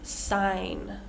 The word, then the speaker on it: sign: let's go to some words with a silent G say G we have sign champagne na High light